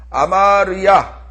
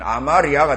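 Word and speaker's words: 아마랴: 족속 그렇죠 아무리 족속 다음에 아마르야 아마르야를 빨리 르는 발음을 짧게 해주면 아마리아가 되죠 그렇죠 자연스럽게 아마리아가 됩니다 그래서 그거는 사람 이름으로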